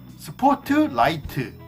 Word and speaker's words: 스포트라이트: But Koreans do it a bit differently. We use 6 syllables. 스, 포, 트, 라, 이, 트. When pronouncing Korean, clearly pronounce all the syllables. Break between each syllable.